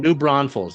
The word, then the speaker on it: New Braunfels: New Braunfels.